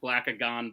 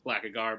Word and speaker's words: Blackagar: Antonio, you messed up some syllables there. You wrote Blackagon, Boltagar. It's Blackagar, Boltagon.